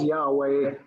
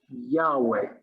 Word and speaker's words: Yahweh: Now we think it's pronounced Yahweh, although in Hebrew, written Hebrew, only the consonants are written.